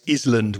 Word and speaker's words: island: And the very famous Island, which is wrong. The S there is also silent. How many times have you heard that from your students, Reza? The S is not pronounced, so it's island.